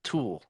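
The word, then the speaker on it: Tuell: lacrosse like douchebag and his name is zach toole but it's spelled t-u-e-l-l yeah oh dear [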